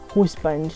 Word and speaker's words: huzband: So it's pronounced huzband, like HUZBAND, which I really like. There's a very personal touch to it. It's a Nigerian thing.